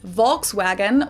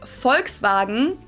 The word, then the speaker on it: Volkswagen: But even if we did go by the full name it would be pronounced folksvagen and not volkswagen. So just imagine that it was spelled with an f and v instead.